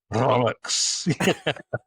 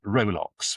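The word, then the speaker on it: rowlocks: gets to you interjects rolls which which manner of course insists on cleaning up the sound of by pronouncing Rolex which is how it's spelled.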